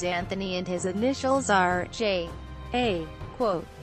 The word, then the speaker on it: J. A.: and his initials are Jay a quote he pronounces his name as Jay he is 6 feet